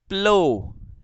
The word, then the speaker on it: plough: And next PLOUGH प्लो, प्लो, है ना, प्लो। ठीक है, यहां पर GH साइलेंट है बेटा, प्लो, इट साउंड्स प्लो, प्लो यानी कि हल, जो